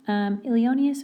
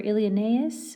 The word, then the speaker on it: Ilioneus: So at this point in book one, Ilioneus, or Ilioneus is the other way to pronounce his name.